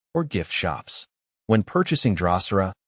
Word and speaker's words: Drosera: Drosera is pronounced Drosera, with the emphasis on the first syllable.